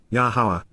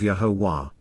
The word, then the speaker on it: Yahowah: being concerned about, and regarding moving toward, Yahowah, Yahowah, the proper pronunciation of Yahowah, our Eloah, God as directed in his Torah,